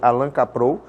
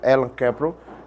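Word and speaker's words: Allan Kaprow: do Alan cel né se a gente lê Alan capro mas a pronunci seria Elan cpro e essa obra é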